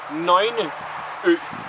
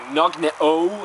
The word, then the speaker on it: Nøgne Ø: It's called Nøgne Ø. Again, Nøgne Ø. I hear a lot of people saying like Nøgne Ø and stuff like that. It's way wrong. But it's Nøgne Ø's Dark Horizon, and it's